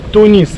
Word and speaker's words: Тунис: Название стране по-русски Тунис. Тунис ударение на «и». По-арабски Тунис, ударение на «у».